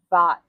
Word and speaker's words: Vought: And then there's uh Russell Vot. Yeah. I think they pronounce it vote.